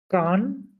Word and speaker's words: quand: দেন কিউ এর পর you silent, হ্যাঁ? ওটা বাদ দিয়ে পড়ে। লাস্টে ডিউ সাইলেন্ট। Quand না, আইন কি হবে?